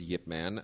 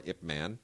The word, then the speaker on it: Ip Man: good as the first Yip Man uh or ipman depending on how you you know sort of want to pronounce it uh and it's fascinating